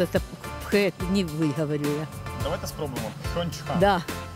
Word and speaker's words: Пхенчхан: Ви можете вимовити столицю, де зараз проходять Олімпійські ігри? Ні, напевно. Пхуньхан чи як? Чи... А так. В Кореї сложне названня Пхенчхан, так-то так. Чинчхан. Чинчхан. Пхенчхан.